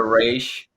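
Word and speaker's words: Ra's al Ghul: owls of course um I know people pronounce it differently um I'm a race guy myself a race I'm talking about the cartoon because that's how it was fundamental for me I think they said Roz but it's I'll do racial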